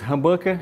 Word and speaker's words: humbucker: São captadores humbucker e dois single. É essa a pronúncia correta, tá? Humbucker e single.